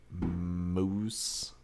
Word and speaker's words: Maus: some tandalizing white vanilla moose cake. Mouse cake. Mouse cake. There it is. Not mouse cake. Moose cake. All right. So it's like moose as in the dessert item but spelled like mouse.